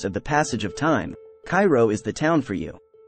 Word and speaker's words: Cairo: don't forget your gas mask six Caro Illinois Cairo pronounced Koo because you'll care a lot about leaving once